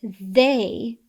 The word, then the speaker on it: they: On a side note, I often hear students mispronounce they and their. They is the long sound A, where there is the R-controlled vowel sound air.